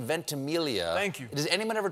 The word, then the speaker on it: Ventimiglia: Ventimiglia, whatever. And I was 12, and I'm running on, I'm super excited. And it's like, wait, what the? The silent G throws people.